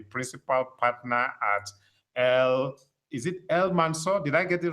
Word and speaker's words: El-Mansur: He's an architect and the principal partner at is it El-Mansur? Did I get it right? El-Mansur Atelier.